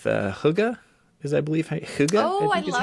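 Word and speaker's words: hygge: Denmark too with the Huga is I believe Huga oh I love how you pronounce it that's their whole me hugy yeah h y g g e it's kind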